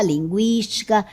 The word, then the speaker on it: linguística: E agora todas essas palavras são escritas desta forma, sem o trema, 50, linguística, consequência, frequência, tranquilo. Note que a pronúncia continua sendo a mesma com o u.